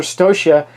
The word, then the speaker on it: Stocia: And I'm playing with some other folks like long-standing video watcher Stocia, who I just found out how to pronounce her name. I always thought it was Stasia because of the way it's spelled.